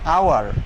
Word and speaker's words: hour: Now transparent example, like this, hour. Her first letter of the word is H. H is consonant, কিন্তু তার উচ্চারণটা হয়েছে H-টা silent, hour ভাওয়েলের মতন।